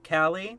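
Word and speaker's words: Kali: right here or rather they they pronounce her they pronounce it Callie I am not going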